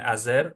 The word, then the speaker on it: azer: As a result, if you want to say azer in like to do in Latino, you can azer or fazer. Both are correct. Azer is the eastern bud.